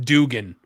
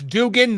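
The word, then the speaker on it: Duggan: I was just going to say yeah maple cookies but yeah pretty much and it's pronounced and it's pronounced dugan not that if Bill Watts says it's dugan then it's dugan who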